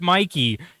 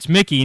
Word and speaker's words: Mickey: You were saying Mickey correctly, and then you were like, "No, it's Mikey," and I'm like, "No, you were right. It's Mickey," and you were like, "No, it's Mike."